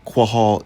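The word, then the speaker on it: קהל: translate the Hebrew word kahal, or kahal. But they actually do have it right. Quahal is how it's pronounced in the Paleo.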